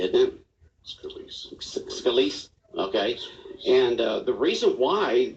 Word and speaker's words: Scalise: Now, you pronounce his name, Representative Scalise, isn't it? Scalise.